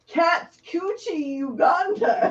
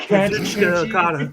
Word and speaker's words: Kazuchika Okada: Katsuchi Uganda. Kazuchika Okada.